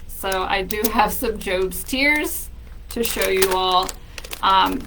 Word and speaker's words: Job's tears: bile this big of job's tears that's how you pronounce it uh it's job from the Bible um we don't have